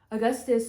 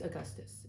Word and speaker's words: Augustus: of their creative roots Augustus will did I say August before it's Augustus if I did say it wrong Augustus will spend this